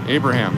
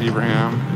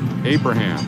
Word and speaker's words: Abraham: slowly bleeding this right my name is pronounced Abraham not Ibraham it's the Arabic pronunciation thank you I appreciate that Abraham good to have you